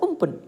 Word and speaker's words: Amphan: this cyclone sarga cyclone it is pronounced as amphan but the name is given by thailand in thai and this word is pronounced as umpu so cyclone is a super cyclone formed over